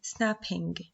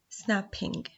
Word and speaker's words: snapping: The same as snapping, snapping. If I cut the word snapping into syllables, it will be snap, ping. It has two syllables.